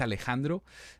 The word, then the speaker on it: Alejandro: the introduction and and i know my name is complicated because comes from the spanish world so if you so that would you pronounce it is actually my name is alejandro and but my nickname